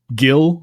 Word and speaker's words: gil: So, Gildor, Gilin, Osgillath, they all begin as in the English guild.